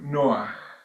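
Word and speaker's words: נח: leyes o normas nojas por noaj que es como se pronuncia el nombre de Noé en hebreo nocas son las siete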